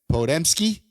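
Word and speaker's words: Podziemski: Uh Brandon Podmski.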